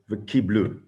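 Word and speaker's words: וְקִבְּלוּ: So, and we read it v'kiblu. Kimu v'kiblu. So it's spelt kabel, which is the singular, and it's written kiblu. Sorry, it's spelled kabel, which is singular, and it's read kiblu.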